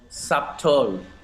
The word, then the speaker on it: subtotal: sound climb crumb and the letter b is often silent when it's before the consonant t so think of these examples subtle subtotal depth depth so see